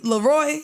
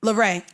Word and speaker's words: Leray: I can't pronounce her name. You know her name. It's Coi. Is it Coi Leray? Leroy? Coi Leray. Leray.